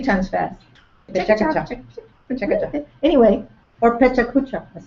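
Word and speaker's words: PechaKucha: Pacheco-cha.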